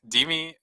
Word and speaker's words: DeMe: It's like DME, Deme, Demi. Demi is, yeah, it's the best version, I'd say.